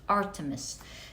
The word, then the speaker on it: Artemis: protection so lovely you have oh you have Artemis uh art uh I think it's pronounced Artemis let me check once and for all I get confused with her name okay so her name is actually pronounced Artemis thank you Gemini just learned how to pronounce